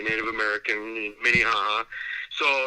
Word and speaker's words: Minnehaha: he plays he played high school basketball for minnehaha academy minnie haha academy had a big explosion